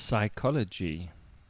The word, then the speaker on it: psychology: indeed yes next one psychology psychology you would think that begins with an S but no it begins with a p ps y so the p is silent oh this is a